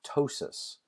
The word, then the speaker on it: ptosis: Can also cause ptosis of the eyelids. Ptosis, the P is silent, is droopiness of the